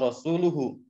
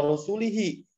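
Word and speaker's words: رسولُه: Annallaha bari'um minal musyrikina wa rasuluhu. Nah, namun orang tersebut membacanya dengan Annallaha bari'um minal musyrikina wa rasulihi. Jadi yang atas itu dhamma, wa rasuluhu, yang bawah wa rasulihi.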